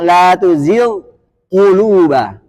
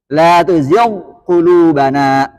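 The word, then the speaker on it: لا تزغ قلوبنا: Kalau sebelumnya kasrah, maka tingkatan di huruf ghain itu sangat rendah. Isti'lanya. Maka bacanya la tuzigh quluba. La tuzigh qulubana. Karena ghain huruf halqiyah sedangkan qaf huruf lahawiyah.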